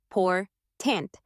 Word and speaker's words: important: syllables in a word take the word important we stress the second syllable poor tant because that's where the meaning lies now intonation is like